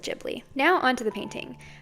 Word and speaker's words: Ghibli: you want to pronounce it like someone from Japan it's Studio jouti but since I'm not Japanese I'm going to stick with jibli now on to the